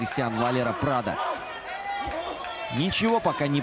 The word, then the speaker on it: Valero: ну вот кстати он не валеру а именно валера ударение на последний слог в испанском языке не ставится если нет специального знака ударения ну фамилиях такого нет этому валира править и